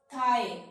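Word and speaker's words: thigh: थाई, यहां पर भी ये साइलेंट हो गए जी एच।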